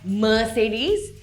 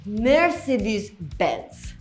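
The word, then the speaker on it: Mercedes-Benz: I know I've heard some of you call it Mer-chey-dee and a mainstream mispronunciation is Mer-SAY-deez. But if you follow the Germans, it's actually mur-SEE-dus bents.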